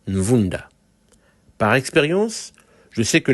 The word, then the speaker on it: Ne Vunda: En fait, c'est écrit Nevunda, mais à mon avis, ça devrait sûrement être Nvunda.